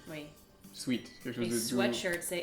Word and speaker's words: sweatshirt: c'est un vêtement et en France on dit un sweite est-ce que tu portes un sweite et la vraie prononciation est sweater or sweatshirt oui parce que sweet qu'est-ce que tu entends quand je dis sweet sweet c'est sucré sucré ouais s W